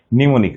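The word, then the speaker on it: mnemonic: পি নিউমোনিয়া নিউমোনিয়া বানা কিন্তু P extra psychology বানানটা মনে রাখবে পিসাই চল যাই বা পিসি চল যাই এখানে কিন্তু পিটা নিমোনিক আমরা আজকে যে প্রসেসে পড়তেছি বানান এটাকে বলা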